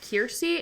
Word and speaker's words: Keirsey: take it take this it's called kiry it's spelled k e i r s e y kiry um and to get